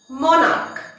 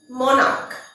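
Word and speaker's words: monarch: মনার্ক, মনার্ক। মনার্কের শেষে সিএইচ আছে কিন্তু এটা কয়ের মতো উচ্চারণ হচ্ছে, তাই প্লুরাল হবে মনার্কস, শুধুমাত্র এস অ্যাড হবে।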